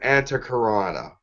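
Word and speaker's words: Antahkarana: but you can it is called they'll know anta karana it's an anti karana that's how you pronounce it you spell that aan ta h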